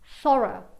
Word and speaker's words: thorough: In British English, e questo il suono numero 6, borrow and thorough vengono pronunciate con l'ultimo suono come un suono schwa, quindi un suono E, ok? Borrow, thorough, ok?